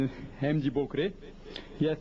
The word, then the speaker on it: Bokre: Bakre. That's right, the correct pronunciation is Hemji Bokre.